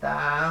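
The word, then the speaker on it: ت: উচ্চারণ, তাজিবার আগা সামনের উপরের দুই দাঁতের গোড়ার সাথে লাগিয়ে উচ্চারণ করতে হয় তা।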